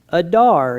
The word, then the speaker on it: Adar: This is Adar in Hebrew.